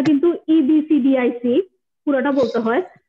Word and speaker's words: EBCDIC: সি, এফসিডিক code নামের মধ্যে দেখো, আমি এটাকে এফসিডিক বলি, আসলে উচ্চারণটা কিন্তু EBCDIC পুরোটা বলতে হয়, তো আমি এটাকে সংক্ষেপ করে এফসিডিক বলি আর কি।